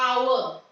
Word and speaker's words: hour: here you can see the pronunciation is just like a vowel the H is silent over here in the next word